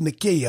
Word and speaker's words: Nike: Nike means victory, and N-I-K-E, but it's pronounced Nikea, I believe, in the Hebrew or Greek, one of them, I can't remember, but it's interpreted as victory.